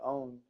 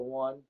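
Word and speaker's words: onn: Mine's a own. And yours a. Everybody pronounces that wrong. They call it a one. It's own. How would you pronounce that? O-N-N. Own. It's like O-W-N, but it's O-N-N.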